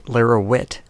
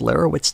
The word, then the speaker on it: Lara Witt: In this case, it's a woman named Lara Witt who wrote an article. Never trust anyone whose name rhymes with twit.